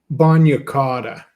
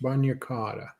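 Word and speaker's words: bagna cauda: Baotta. Anybody ever heard of that? What? Baotta. I think it's pronounced bunata.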